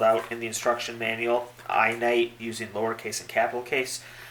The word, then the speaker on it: iNITE: Apple equivalent and type in just as this pronounced spelled out in the instruction manual I night using lowercase a capital case or uppercase and